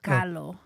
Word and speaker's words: Kahlo: You have to put that Mexican accent, Kahlo. Oh, Frida Kahlo.